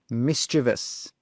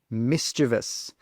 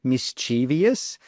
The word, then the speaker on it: mischievous: it misus well the answer is number three mischievous mischievous a lot of people pronounce it as number two mischievous but this is not correct number three is